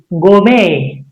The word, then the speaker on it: gourmet: We should not make it louder. That means it's a silent. It becomes silent.